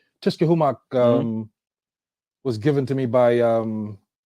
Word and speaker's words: Tushkahumoc: So I do want to pronounce the name Tushkahumoc. Tush. Tushkahumoc. Tushkahumoc. Yes. Okay, yeah. So Tushkahumoc.